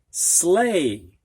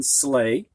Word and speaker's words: sleigh: We've got the number 8, 80, 18, weight, freight, sleigh. So EI sounds like A, and the GH is silent in sleigh.